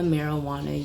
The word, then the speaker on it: marijuana: it is, once again, marijuana spelled with an H, simply because we didn't actually know how Spanish worked back then. And the J sound then, we used an H.